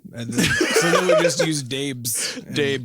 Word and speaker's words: Dabes: And then we just used Dabes. Dabes. Pronounced it Dabes instead.